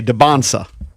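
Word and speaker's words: Dybantsa: And we just learned that it's a silent T in his name. So we're trying to say Debansa.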